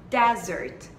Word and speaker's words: desert: Dessert, dessert e desert.